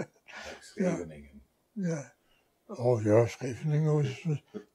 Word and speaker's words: Scheveningen: It was often used as a password against the Germans, right? For yeah, because they would make it Scheveningen. They couldn't say it. They couldn't say it properly, no.